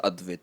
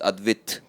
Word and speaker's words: Advit: And so like all my family that stays in Chennai and like other people, they don't pronounce my name as Advit. It's Advit.